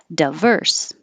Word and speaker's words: diverse: both ways a lot so the di is not stressed so it can change to da or d but some people keep it die so both are totally fine diverse or diverse and the same for